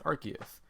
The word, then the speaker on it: Arceus: Like, oh, maybe like Zeus, you know, like from Olympus. Right. But like, no, it's Arceus.